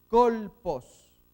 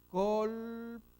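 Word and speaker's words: κόλπος: Colpos. Colpos. Entonces, kappa, omicron, lambda, pi, omicron, sigma. Colpos.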